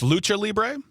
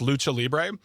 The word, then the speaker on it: lucha libre: So So it's Lucha Libé and so no lucha it's pronounced lucha libre and it is it is me is traditional Mexican wrestling traditional let me repeat this.